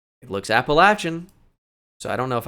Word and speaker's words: Appalachian: uh and not they that's how they say it there I'd love to say appellation for you but they say Appalachian State so I gotta go